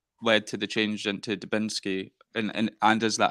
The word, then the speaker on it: Dubinski: and and what led to the change into dubinsky and Anders that how you pronounce it yeah that is how you pronounce